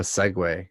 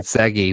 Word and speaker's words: segue: yeah yeah so yeah i like the way you said that it's more of a segway than it is an interlude because that's how you say it yeah i said did you know i mean i think i thought you said i thought you said segi which was like you